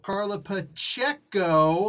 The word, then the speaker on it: Carla Pacheco: all that first credit where credits do so carla pacheco i'm pronouncing it right now she like literally did